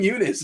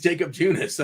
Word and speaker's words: Junis: Why are you going Eunice? It's like jogging. Jakob Eunice. It's a fun way to say his name. Junis, gosh. Yeah. Is there only one silent J? I think it's Jacob Junis.